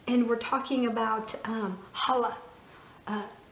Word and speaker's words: challah: we're talking about um Hala uh spelled Chala but pronounced either kala or Hala okay let's to um